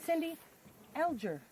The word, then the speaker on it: Cindy Alger: Okay, this is my friend Cindy Alger. It is. Is that how you pronounce Yep, your that's how you say my name.